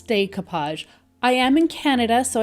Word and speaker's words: decoupage: the way I pronounce decoupage. I am in Canada, so I do pronounce it a little bit differently. Decoupage is a French word, and I do live in a French-speaking country, so I guess that's